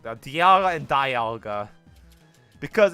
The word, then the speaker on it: Dialga: It's Dialga, not Dialga.